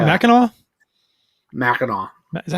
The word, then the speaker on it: Mackinac: Did you call it Mackinac? Mackinac. Is that how you pronounce it? That's how you pronounce it. Mackinac.